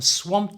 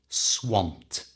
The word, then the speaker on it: swamped: was very busy now swamped ends in Ed and any English word that ends in d has three possible ways of pronouncing that ending in this case it's a simple T swamped you try swamped we